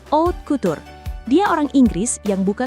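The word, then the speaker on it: haute couture: Kita sebut aja dia Bapak Hot Kutur atau bacanya O Cutur.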